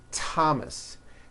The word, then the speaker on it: Thomas: spelled with a th they are pronounced as if they were spelled with a normal t like that and these words are thomas thompson Teresa Thailand Thames